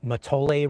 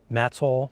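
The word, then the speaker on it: Mattole: on this little uh matole Road out to the Lost Coast well they pronounce it matsol not not matole and I think I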